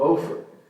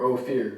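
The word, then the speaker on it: Ophir: about brought gold from ofer or ofir depending on how you pronounce it that Kingdom by the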